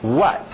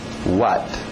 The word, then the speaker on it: what: W saindo dos lábios. What? What? Where?